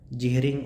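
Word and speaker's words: Jhering: जिहरिंग और ईयरिंग दोनों नाम से आप प्रोनाउंस कर सकते हैं इनको।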